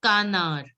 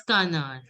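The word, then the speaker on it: canard: So it will be pronounced as kanar. Don't pronounce the D. Pronounce it as kanar.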